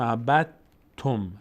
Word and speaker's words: عبدتم: دال کلا تلفظ نمیشه، تبدیل شده به حرف ما بعدش ت و ت تشدید گرفت.